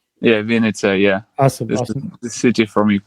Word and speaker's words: Vinnytsia: Are you, I see the band is credited as from, I'm going to mispronounce this badly, Vinstaya, Ukraine? It's Vinnytsia. Vinnytsia. Yeah, Vinnytsia, yeah.